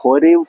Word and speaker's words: ഹോരേബ്: ഹൊരേബ് എന്ന വാക്കിൻറെ അർത്ഥം അതിൻറെ യഥാർത്ഥ ഉച്ചാരണം ഹൊേവ് എന്നാണ് എബ്രായ ഭാഷയിൽ ആ ഹോരേവ് പർവ്വതം എന്ന് പറയുന്നത് തകർച്ചയുടെ ഏറ്റവും അടിത്തട്ടാണ് ഇനി അത് ഉണങ്ങി പോയതിന്റെ ഏറ്റവും ആഴത്തിലാണ് അടിത്തട്ടിലാണ് എന്നൊക്കെയാണ് അതിന്റെ അർത്ഥം.